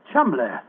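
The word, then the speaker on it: Cholmondeley: Chumley. That name's spelt C-H-O-L, Chol, M-O-N, Mon, D-E-D-E-R, L-E-Y. Chol Mondele. Mondele. Precisely, old fellow. What you thought to be Mandalay was really Chol Mondele, the name of the murderer.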